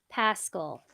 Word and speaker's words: Pascal: So the Lions have drafted defensive end Josh Pascal out of Kentucky. Jake, did I Ha!